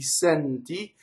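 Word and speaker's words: senti: So if it's closed E, oh, there is actually sɛnti and accɛnti.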